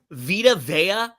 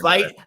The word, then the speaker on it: Vita Vea: It's Vita Vea. He called him Vite.